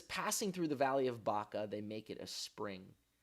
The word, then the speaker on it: Baca: Baca, okay, so when you spell Baca in Hebrew, as it's spelled here, it's Beit, and then a Kaf, like a K sound, and then it ends with an Aleph, which is an Aleph. We think of it as an A, but it's a silent letter.